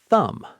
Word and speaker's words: thumb: A great example is thumb, right? No B sound. It's not tha. The B is silent.